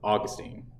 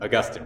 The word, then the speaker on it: Augustine: But that's because we are descendant from Augustine. All right, mispronounced. Augustine.